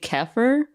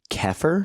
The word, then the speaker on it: kefir: And I stumbled upon making homemade kefir. Kefir? Kefir or kefir? I pronounce it kefir.